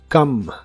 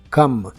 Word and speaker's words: come: de inglés es come la o se pronuncia como a en esta palabra y la e del final es muda come come y puedes usar este